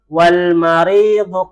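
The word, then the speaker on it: والمريض: At-tabibu tawilun wal maridu qasirun. At-tabibu tawilun al-maridu qasirun. Di sini dibacanya wal langsung ya. Bukan wa'al tapi wal langsung.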